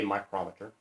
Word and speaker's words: micrometer: It's spelled micrometer, but we say micrometer.